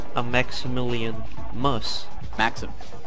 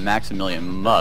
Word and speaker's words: MaximilianMus: What about a MaximilianMus? A Maximilian? Mus. MaximilianMus. Yeah, what about that? Holy heckle freckle, don't let me tell you about a MaximilianMus. Tell me. MaximilianMus, my guy, he's gonna do lots in his life.